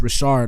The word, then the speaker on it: Richard: her name is not Richard. Even though it's spelled Richard, it's pronounced Rashard, like French or whatever.